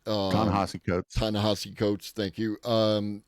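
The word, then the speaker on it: Ta-Nehisi Coates: It was brought by Sarah Silverman and it was brought by um I'm pronounced their name wrong, but uh Tanahesi Coats. Um Tanahasi Coats.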